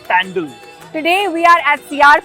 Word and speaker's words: pandal: for pandal hopping yeah that's how it is pronounced by the way pandal today we are at